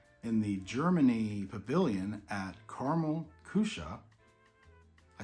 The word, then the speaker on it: Karamell-Küche: like those so we'll see yes it is caramel cusha and Epcot is where you can find these